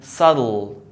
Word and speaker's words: subtle: As in subtle, subtle, no B.